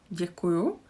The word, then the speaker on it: Děkuju: Here we again have y. Děkuju.